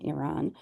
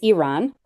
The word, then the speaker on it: Iran: he's recently done in Iran. Um, and it's Iran, not Iran. Yeah, which he continues to say. It's Iran. Like, pronounce it properly.